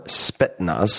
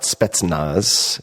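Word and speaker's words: Spetsnaz: In the 1980s, he was a physical training instructor for Spetnaz. That's also another one I want to mispronounce always. It's not Spettznaz, Spetnaz, the elite Soviet special forces units.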